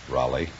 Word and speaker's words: Roly: Raleigh. Really? No, Raleigh. You realize, of course, that we can be sued by Abbott and Costello. How do you spell it? R-O-L-Y.